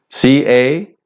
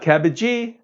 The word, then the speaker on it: cabbage: So, we have something like "cabbage," "cabbage." C-A-B-B-A-G-E, cabbage. Not "cabbagee!" No, no, no, not "cabbagee." All right, so, we're going to have some cabbage for dinner.